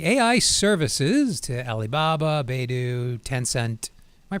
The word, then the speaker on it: Tencent: They've been supplying, they've been supplying AI services to Alibaba, Baidu, Tencent. Am I pronouncing that right? Yes. Tencent.